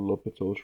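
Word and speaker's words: L'Hôpital: talk about this theorem lopital's theorem it's really called l'hopital's Rule and by the way a lot of times you'll see this spelled like a hospital right but it's the same thing now um now here's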